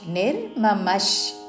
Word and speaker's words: నిర్మమః: పక్కన చాకి యావత్తు విముచ్య నిర్మమష్ నిర్మమష్ విసర్గ ఉచ్చారణ తాళవ్య ష శాంతో తాళవ్య షా దీర్ఘముతో